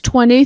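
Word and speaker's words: twenty: Numbers 20 through 90, the majority are pronounced D. But we begin with an exception, 20, which has a silent T.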